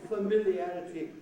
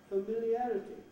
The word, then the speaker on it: familiarity: well yeah the familiarity i often hear this word familiarity with the wrong vowel in the first syllable it begins with a schwa right familiarity oh just say the apple tree if you say familiarity now it sounds like some ridiculous family i've never met a